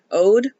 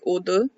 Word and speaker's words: O.de: to pronounce his name, it's just the English word ode. Um, like ode to joy. Um, so yeah, in English that's how it's pronounced. In Korean, it's more pronounced like udu stylized like this either.